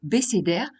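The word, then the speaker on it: בְּסֵדֶר: Dans ce cas, il émet un son « é ». Exemple avec le mot « béssédèr », on le prononce parce que le « ב / beith » est en début de mot.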